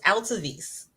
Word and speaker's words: Altovise: Altovise. Altovise, and it's like it's spelled.